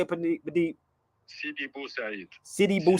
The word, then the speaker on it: Sidi Bou Said: Sidi Bou Said.